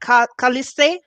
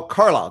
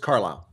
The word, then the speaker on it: Carlisle: that the state name how do you say that kaliste oh carlisle just carlisle caller okay the name